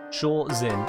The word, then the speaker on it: Shorzin: Shorzin is spelled with a Z, Sunwolf. Shorzin, like Jason's just done.